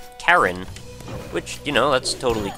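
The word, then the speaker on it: Charon: was popularized uh and I'm told that the actual pronunciation is Karen which you know that's totally cool I might just say chaon though out of habit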